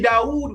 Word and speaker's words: Dawid: That's the way they will pronounce it, Dawid. It's really Dawood when you look at the Moroccan Ephrati.